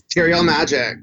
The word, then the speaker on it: Terial Magic: Is it Terial Magic? It's Terial Magic.